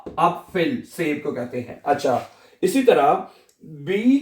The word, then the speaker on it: B: जैसे कि अपफिल एक लफज़ है अपफिल है इसको क्या पढ़ेंगे आ अप इसी तरह बी को ये जो बी है ठीक है इसको